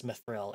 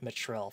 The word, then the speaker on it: mithril: basically going like, oh, you should absolutely be pronouncing this mithril and not mitril for half the game.